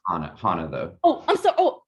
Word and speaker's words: Hannah: And I've lost, Hannah. Hannah, okay. Zach, can I take Hannah?